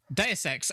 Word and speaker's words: Deus Ex: Deus Ex. Oh, I was pronouncing it in the French way.